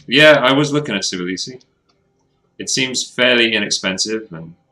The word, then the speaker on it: Tbilisi: Tbilisi, is that how you pronounce it? It looked pretty good. Is it Tbilisi? Begins with a T, but like a silent T.